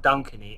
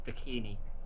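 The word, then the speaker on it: Dakini: me oh it's not dciny it's dini like bikini but D deini din yeah that's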